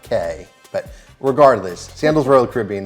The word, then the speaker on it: Cay: Day at Coco Cay, but it's Key, so But in the Caribbean, specifically the Bahamas, those islands are called keys. So, even though it's it's phonetically it sounds like Cay, but regardless, Sandals Royal